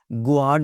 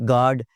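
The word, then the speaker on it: guard: Disguise में you silent है, गार्ड में यू साइलेंट है जी, बिल्कुल साइलेंट। गुआर्ड नहीं कहते हम कभी जी, बाहर गुआर्ड बैठा है कि नहीं बैठा हुआ? इट्स गार्ड।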